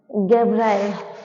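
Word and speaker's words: Gabriel: Actually मैंने spelling देख इसकी नोट की जी, एक सेकंड रुकना, गैब्राइल, सॉरी, वही मुझे डाउट हो रहा था।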